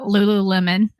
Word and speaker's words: Lululemon: say this wrong uh Lululemon uh is it lulon or Lulu how do you say it Lulu lemon yep Lululemon my nieces of course